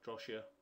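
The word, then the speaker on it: Drosha: pathway and those are the enzyme complexes drosia drosia way you pronounce it and daiser so what drosia does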